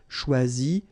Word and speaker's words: choisis: Okay, same rule, you don't pronounce them. So phonetically, you will have choisi, choisi, choisi, choisi, choisi, choisi, choisi, and choisi.